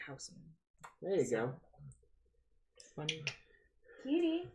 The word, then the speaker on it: Huisman: name is spelled Huis, but he pronounces it Huisman.